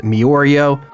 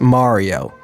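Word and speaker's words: Mirio: characters like Tamaki and Miorio. I'm kidding, God, I got over 1,000 comments in my last video correcting me. I'm sorry, I know it's actually pronounced Mario.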